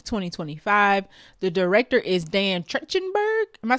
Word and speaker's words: Trachtenberg: The director is Dan Trachtenberg. Am I saying it right? Yeah. Trachtenberg.